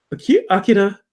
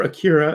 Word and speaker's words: Akira: Akira, or Akira, as some people think it should be pronounced, a live action film reportedly entering production this summer.